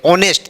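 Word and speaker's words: honest: ऑनेस्ट। देखिए यहां ये कंसोनेंट है। एच क्या है? कंसोनेंट। और जब हम लोग साइलेंट लेटर पढ़ते हैं। एच के बाद ओ आता है तो क्या हो जाता है?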